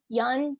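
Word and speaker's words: Youn: And I was so happy that it was nominated, and that Yun, yes, that's how you say her name, that she won.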